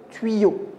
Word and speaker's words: tuyau: Le premier a donné la syllabe tui et le deuxième a donné yo, tuyau.